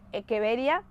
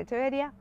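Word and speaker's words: Echeveria: en realidad el latín se pronuncia latch se pronuncia es que vería pero normalmente nosotros le decimos el che verías y también está bien de decirle echevería si cruzó una echevería con otra voy a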